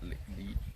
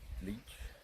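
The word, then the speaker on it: Laois: How do you spell that? Leach. Leech. Oh, leech. L A O I Sly the driven angel.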